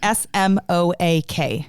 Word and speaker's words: Smoak: And it's not spelled like smoke, like typical. So if you're Googling this. Yeah, good point. SMOAK.